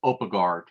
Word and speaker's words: Opagard: Opergaard, her name was mispronounced. So it's Opagard.